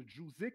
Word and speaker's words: Jouzik: Donc, mon deuxième invité est enseignant à l'Institut Trébasse, fondateur de l'agence de marketing numérique du nom de JOUZIK. Est-ce que je prononce bien?